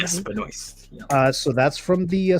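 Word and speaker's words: Benoist: back to the uh Supergirl CW uh Melissa Beno that's how you pronounced the last name yes Beno uh so that's from the series so we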